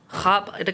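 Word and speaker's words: خواب: খাব, এখানে খাওয়াব হবে না, এটা খাব হবে। উচ্চারণে ওয়াও আসবে না, কিন্তু লেখায় আসবে।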